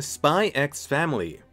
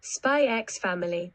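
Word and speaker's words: Spy × Family: Switching it up with an actual new anime this season, Spy X Family. It's like Hunter x Hunter, the X is silent. Spy X Family.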